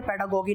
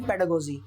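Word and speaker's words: pedagogy: इसको बहुत सारी जगह पर पेडागोगी पेडागोगी करके कहा जाता है, ये गलत शब्द है, प्रोनाउंसिएशन गलत है, पेडागोगी नहीं पेडागोजी, राइट। अब पेडागोजी क्या करती है,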